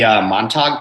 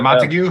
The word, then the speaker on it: Montauk: Have you guys heard of the Montauk Project? Buddy, you might have heard of this one. Isn't it the Montague? Did you just mispronounce montage? It's Montauk. It's Montauk, New York.